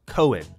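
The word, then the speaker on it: Koen: currency otherwise known as Cohen which ironically enough sounds a lot like coin but it is pronounced Cohen now the issue arises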